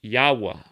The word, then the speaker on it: Yahweh: the numerical value of y h w h pronounced yahweh and written in hebrew as and then you